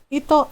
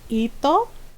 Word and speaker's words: ito: my friend ting hall i'll be like oh ito right yeah and it means this is my friend in tagalog um and that's how you say it so ito oh i'm not mom